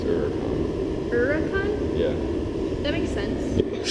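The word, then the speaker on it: Huracán: David Patterson told us how to pronounce Huracan. It's Huracan.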